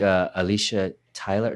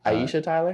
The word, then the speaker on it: Aisha Tyler: I think Alicia Tyler. No, wait, am I saying her name wrong? Pretty. Aisha Tyler.